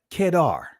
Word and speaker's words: Kedar: curtains of Solomon and his name is pronounced so let's break this down as the tents of kedar as the tense of